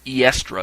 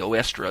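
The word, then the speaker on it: Eostre: named because of the goddess Oestra, or Eestra, as I've heard it pronounced, is where it's spelled E-O-S-T-R-E. Oestra is what I've heard the best pronunciations.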